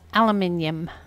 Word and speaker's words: aluminium: the way i say aluminium it's a british pronunciation in america it's aluminum in england it's aluminium this is a blue